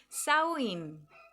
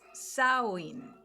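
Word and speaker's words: Samhain: Acá voy a pronunciar Sain. Acá tengo escrito otra cosa, pero según dice pronunciado, entre paréntesis, Sain.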